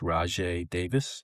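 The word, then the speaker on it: Rajai Davis: it's pronounced Rajay Davis.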